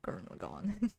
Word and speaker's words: Gurren Lagann: How do you pronounce it? Gurren Lagann or Gurren Lagann?